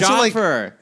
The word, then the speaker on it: Jaffer: That's Jaffer. Jaffer. It's 2 syllables.